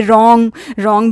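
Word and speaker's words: wrong: बच्चे को बताइए रॉन्ग भी डब्ल्यू से शुरू है, बोलते आर हैं।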